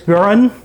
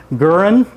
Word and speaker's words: Garand: The story of the M1 Garand starts with this man, John Canantius Guran. Yes, I did pronounce that correct and Susan pronounced it correct earlier. Guran.